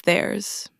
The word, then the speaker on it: theirs: It's theirs. And all long forms except his end with a Z sound.